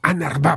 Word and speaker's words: UNRWA: siglas en inglés y se pronuncia algo así como anar por lo que he